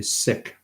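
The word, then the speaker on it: Sikh: and and sick or seek seeks actually pronounce their faith as the sick Faith that's their pronunciation because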